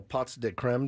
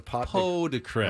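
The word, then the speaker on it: pots de crème: Do you know what a pot de creme? Oh, it's pronounced. Listen to this pot de creme. Is it really? Yes. It's not pot de creme. It's just pots. Pots de creme.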